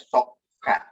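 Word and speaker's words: صكّ: Nah, arti kata sukuk sendiri itu berasal dari bahasa Arab sokka atau sod, kaf, dan kaf. Sehingga bacanya sokka.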